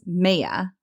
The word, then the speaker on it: Maia: goddess Maya, not Maya, the Roman goddess Maya, which is spelled Maia.